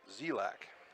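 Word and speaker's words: Dzielak: Be Donahue against Zelak. And the only reason I know how to pronounce that name is because I asked last time.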